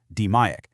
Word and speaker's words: DMAIC: It's called DMAIC, pronounced DMAIC.